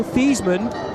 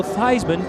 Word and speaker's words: Theismann: director who convinced Joe Theismann to change the pronunciation of his name to Joe Theismann to rhyme with Heisman great marketing genius Joe